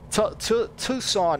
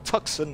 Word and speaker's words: Tucson: airfield, it'll give me Tucson International Airport. So Tucson or Tucson, depending on, you know, how you want to pronounce it.